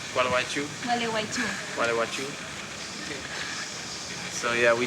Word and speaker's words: Gualeguaychú: Gualeguaychú. Gualeguaychú.